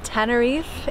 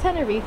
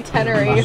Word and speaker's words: Tenerife: Tenerife I think it's Tenerife if you have a Spanish sauce have anything but I think if you're like a white Ringo Hallelujah Tenerife how come all the Brits say teneries it's my first sangria